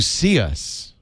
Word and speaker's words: Cius: You see us. So it's not as it's only 7 inches, so it's not as big as the iPad. It will run Android. It is pronounced See Us.